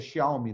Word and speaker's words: Xiaomi: da Huawei e da Xiaomi, acho que é Xiaomi, né, que se pronuncia.